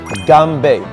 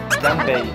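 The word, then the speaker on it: 干杯: this is very important we say gambe gambe when you say gambe it means bottom up bottom up so gamb gamb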